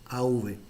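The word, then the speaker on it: אב: Bueno, padre, para que a mí nos gusta anotar las palabras en hebreos, padre se pronuncia af, av, af, y madre se pronuncia em.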